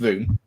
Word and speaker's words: VWM: Voom, yeah, pronounced Voom.